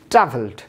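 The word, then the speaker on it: travelled: এরপরে শব্দ ট্রাভেল, লাস্টে ল সাউন্ড, ইডি যুক্ত করার পরে কী হচ্ছে, ট্রাভেলড।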